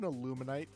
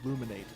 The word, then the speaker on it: Illumise: What is What is an Illumise? Or Illumise, I should say. That is the correct way of pronouncing it.